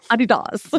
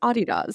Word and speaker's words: Adidas: Adidas. Yes, you are correct. German pronunciation is Adidas, yes, but Adidas, yes.